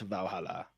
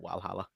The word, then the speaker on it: Valhalla: is i'm right in saying that it is pronounced valhalla like i'm sure like in the video that